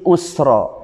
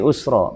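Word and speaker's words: يسرا: al-insyirah Inna ma'al Usri Yusro Inna ma'al Usri Usro bahayanya sungguh bersama dengan kesulitan ada saja kesulitan lebih STW rupanya Ayo diantara kesulitan dan kesulitannya karena salah baca Ya salah baca mungkin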